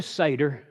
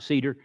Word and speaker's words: seder: just said all right leaving the seder and that's how you pronounce it the hebrews pronounce it not cedar leaving the seder or